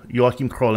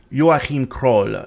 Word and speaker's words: Joachim Kroll: german serial killer and in german his name would be pronounced joaquin joachim crawl in english maybe joachim but uh joachim kroll so j-o-a-c-h-i-m if you want to look him up last name crawl k-r-o-l-l his nicknames were the roar cannibal